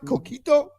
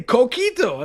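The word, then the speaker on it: coquito: Kito. You're saying it perfectly. Kito.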